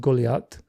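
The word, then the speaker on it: גָּלְיָת: close in spelling to Goliath the famous biblical giant's name in Hebrews pronounced golat the pottery was TP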